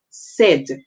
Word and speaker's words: said: Instead, we are going to hear a short E sound. So in this word, we would say that this word is a tricky word. So we'll say said, okay?